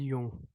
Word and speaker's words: Jung: Karl यूंग, बिल्कुल आपकी बात ठीक है, ये है भी कार्ल यूंग।